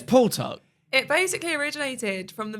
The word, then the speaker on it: Puwtok: "Oh, no, let's call it Pew Talk, not Tik Tok, Pew Talk."